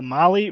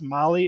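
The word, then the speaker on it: Mahle: all you podcast listeners Molly is spelled m ahle e all right I know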